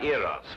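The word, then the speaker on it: Eros: and here he is Cupid the Greek god iros with his broken feet oh I see oh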